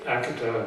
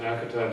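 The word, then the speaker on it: Akita: is coming in and Akata Japan that's the way they pronounce it Akata Japan said the same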